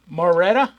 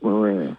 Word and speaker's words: Marrera: His name is Mike Moretta, and I think it's Marrera. Marrera. It's pronounced Marrera.